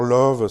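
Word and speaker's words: Lauw: Alors Love, ça s'écrit pas L-O-V-E, ça s'écrit L-A-U-W, mais c'est où Love ?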